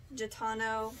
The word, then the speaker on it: Gitano: And then I got some, ooh, these need wash, they're kind of dusty, but some really neat black Gitano, that's how you say it, tapered leg jeans.